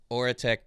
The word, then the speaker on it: Aurateque: AURATEQUE, guys, how you doing? Am I saying that name right? Is that the correct pronunciation?